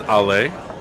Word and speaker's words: Alle: here at la so if you're wondering how to pronounce it we did ask and they confirmed it's ale uh so ale 66 all